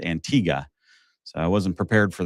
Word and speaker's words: Antigua: there, but uh or as the locals call it, Antigga. Uh apparently Antigua ending in UA is uh Spanish pronunciation and Antigga just ending in an A is uh English pronunciation. So they all say it Antigga.